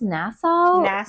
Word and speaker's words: Nassau: in the Bahamas in nasau is that how you say it nasau I think it's Nassau I think there's a county in New York that's also called Nassau they say it different in the British accent but n yeah but